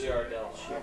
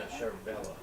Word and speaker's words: Ciardavella: Pronounce Ciardell. No, Ciardavella. Ciardavella. I've said it 3 different ways, 3 different times.